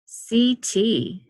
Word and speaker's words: setae: That's pronounced, CT. Looks like I've been mispronouncing it wrong all week.